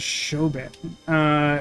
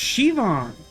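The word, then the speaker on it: Siobhan: Sioban? I think it's... Oh, Shivon. I thought it was Shoban. It's pronounced Shivon. Menacing name.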